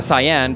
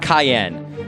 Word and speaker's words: Cyan: I've pronounced it Cyan because it is the color, in English. Originally in Japanese, check this out. It's going to blow your mind. It's pronounced freaking Cayenne, like the freaking cayenne pepper.